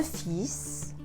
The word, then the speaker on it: fils: des fils les parents en des fils le fils le fils est regardée fils elle ne se prononcent pas 6-6 la fille fille de zèle